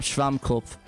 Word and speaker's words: Schwammkopf: How do you pronounce the word SpongeBob in German? SpongeBob Schwammkopf. This is his name in German. Nice. Schwammkopf.